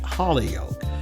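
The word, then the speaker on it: Holyoke: she briefly attended Mount holy Yol female Seminary and some people might pronounce that Hol yoke uh before returning to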